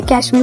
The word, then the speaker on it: Cashmere: अब British pronunciation के हिसाब से इसे कश्मीर बोला जाता है।